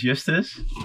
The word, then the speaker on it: Justus: Okay, and my name is Justus. Justus. Yes. Okay, if I'm supposed to go back phonetically, I'd say Justus, but no, Justus. Yes, it's Justus, but it's the Latin word for justice.